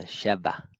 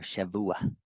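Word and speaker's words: שבוע: there, the Sheva or Shavua. Shavah. There's different ways depending on whatever value you put there on the silent suffix letter Ayin, which carries vowels to it, depending on your pronunciation and dialect.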